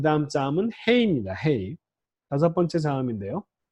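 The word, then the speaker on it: ה: 음역은 H로 하는데 이 헤이는 한국 사람들이 발음하는 히읗보다도 좀 더 부드러운 발음이에요.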